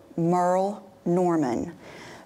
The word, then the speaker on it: Merle Norman: had a haul from let me say it right Merl Norman but I said Merl Norman and I had people